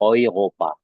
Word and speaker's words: Europa: Nah, seterusnya di sini ada huruf E bertemu U. Nah, ini sama seperti A umlaut bertemu U tadi. Dia dibacanya OI ataupun OI. Nah, jadi kalau misalkan dari mana, misalkan ataupun mau kemana, nah mau ke Eropa misalkan di bahasa Jerman ya kan, jadinya menjadi Europa ya, Europa.